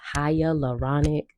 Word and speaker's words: hyaluronic: Really quick, I learned how to say or I learned how to pronounce hyaluronic from Eva Longoria in I think it was like years and years ago from a L'Oreal commercial and she was like ha Lauronic. So that's how I knew